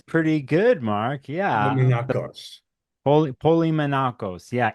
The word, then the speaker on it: Polimenakos: pronounced it That correctly? is pretty good, Mark. Yeah. Polimenakos. Polymenakos. Yeah. It's Polimenakos.